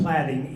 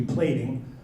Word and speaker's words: platting: It's pronounced platting, even though it looks like it should be plating, or a braiding machine.